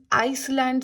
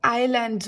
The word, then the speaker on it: islands: इसको बहुत से स्टूडेंट्स आइसलैंड से भी बोलते हैं, बट आइसलैंड्स नहीं बोलते इसको आइलैंड्स बोलते हैं. इसमें एस साइलेंट है, सो you would call it आइलैंड्स.